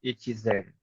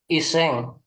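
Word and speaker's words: 一千: biasanya kalau 1.000 itu ya, dia sen aja udah cukup. Kecuali dalam kasus-kasus kayak tadi gini. 1.000-nya disebutin setelah ada angka lain di sebelumnya. Kalau kayak gitu akan dibaca isen.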